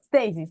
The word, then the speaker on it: Stasis: new albums uh I don't know if I'm pronouncing correctly stasis stasis stasis stasis yeah stasis thank you and uh about that album I'm